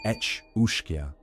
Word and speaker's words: Each-Uisge: The Each-Uisge, pronounced Each-Uisge, is not the water horse you may have heard of in romantic retellings or children's tales.